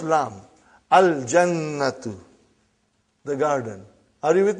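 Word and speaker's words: الْجَنَّةُ: Brother, you will pronounce lam. Al-Jannatu.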